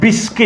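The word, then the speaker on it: Biscay: ये बे ऑफ बिस्के है, इसको बे ऑफ बिस्के बोलना है, BAY बे, और बिस्के की स्पेलिंग क्या है, BISBCAY, बे ऑफ बिस्के, ठीक है।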